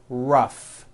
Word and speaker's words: rough: And the last word, rough.